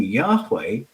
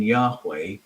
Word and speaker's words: Yahweh: Well, not the way we pronounce it today. But if you go to Proto-Northwest Semitic, which is the source language for Hebrew, the H's in Yahweh were voiced like this. So the sound is there.